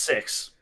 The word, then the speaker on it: CEX: Literally, it's pronounced sex. Is it really pronounced that? It's It's C exchange is what it's like.